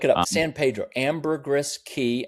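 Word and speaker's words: Caye: Amberris Ki and Ki is spelled C A Y E.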